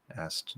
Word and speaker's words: asked: Asked is the SKT pattern, spelled ED. It's just a T sound.